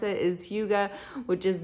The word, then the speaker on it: Hygge: you pronounce this, and that is how you pronounce it, is Hygge, which is not how I had been reading it in my head. In my head, I had been saying Hygge.